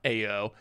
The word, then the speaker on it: Ao: Wait, how do we tell them it's pronounced ow and now AO? The name is literally two letters. Letter A and letter O. A-O. How can I possibly be mispronouncing a two-letter word?